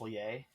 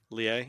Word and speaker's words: Lille: I think it's Lille. Lille, yeah. I'll say I know it's not Lily, like it's because I've heard what it is, but I also just forget because I'm an American.